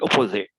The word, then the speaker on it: opposite: So we pronounce like T, we just kind of touch it.